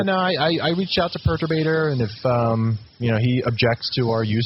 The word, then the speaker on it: Perturbator: So the intro and outro song is, Perturbator's Theme by Perturbator. Am I pronouncing that correctly?